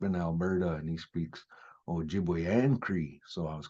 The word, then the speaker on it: Ojibwe: And when you hear the word pronounced, sometimes people that don't have a good ear won't hear the O.